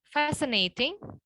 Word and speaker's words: fascinating: Kemudian di sini ada silent C. Ada fascinating, scissors, accent, discern, muscle, dan juga science. Jadi kita nggak boleh tuh bilang fascinating, nggak boleh ya.